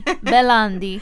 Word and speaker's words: Bellandi: Oh my gosh, yes, that's how you say it. It's so Italian of me. Bellandi. Okay. From now on, it's Bellandi, and it should have been Bellandi in the past.